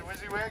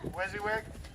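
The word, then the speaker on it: WYSIWYG: know so they need recognition uh did i pronounce that right is that how it wizzy is it's a wizzy wig wizzy wig i i just called wizziewick okay wizzywig uh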